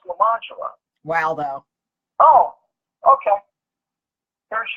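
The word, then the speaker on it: Lemonjello: You spell it Lemon. Jello. Lemon Jello? That's lemon jello. No, it's French. It's pronounced Lamangelo.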